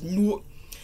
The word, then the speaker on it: Newark: It's Newark.